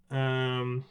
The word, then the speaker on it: kirei: But think of it as a long e more so than a diphthong.